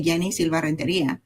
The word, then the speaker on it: Yeni Silva: A lot of people try to change the way they pronounce the name depending on where where they are. I say it I say Yenni Silva.